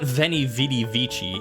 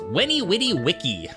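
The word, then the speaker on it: veni, vidi, vici: have just one pronunciation V's were pronounced like a w technically there wasn't even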